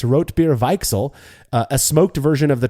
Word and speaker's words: Weichsel: Next, besides Beechwood and Oak, Schlenkerla brews Weichel beer or Weichsel beer. I'm trying to pronounce this right because he put like pronunciations in his email. Weichsel beer with cherry smoked malt, and Weichsel is a type of sour cherry.